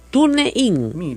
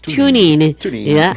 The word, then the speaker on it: TuneIn: TuneIn. Mira, así no se dice, se llama TuneIn. Pero para que usted entienda en castellano así, TuneIn.